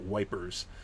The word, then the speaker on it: Ypres: So I would pronounce it Ypres, but I mean that's not how they pronounce it locally, and the British do pronounce it wipers.